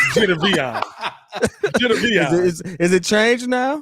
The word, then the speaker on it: Jadeveon: How do you pronounce his first name? Jadeveon. Jadeveon. Is it changed now? Jadeveon. Jadeveon. Yeah, he's Jadeveon.